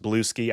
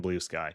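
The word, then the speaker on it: Bluesky: I've I've I people have been saying it's pronounced blue ski I refuse to believe that until I see evidence otherwise it's freaking Blue Sky go follow me on Blue Sky I going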